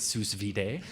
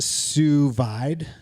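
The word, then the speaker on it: sous vide: This is where or as Ziko calls it sus vid. Sus vid I I believe is pronounced suvide. Suvide a French word.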